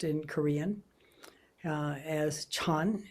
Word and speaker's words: Chan: pronounced in Korean as Chan is the way Zen is pronounced in China and so on um